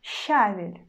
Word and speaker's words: щавель: That's why we still pronounce consonant sh in a soft way, and then we just pronounce а.